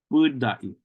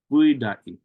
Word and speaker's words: Budai: Budai, Budai. Notice that double U there, two U's. That's because that first syllable is lengthened. That sound is kind of stretched out a little bit.